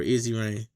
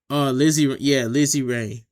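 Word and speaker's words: Lizzy Rain: Lizzie Rain or Easy Rain? Lizzie Rain.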